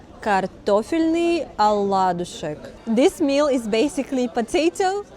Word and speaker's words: картофельный оладушек: So, in Russian it's called картофельный оладушек.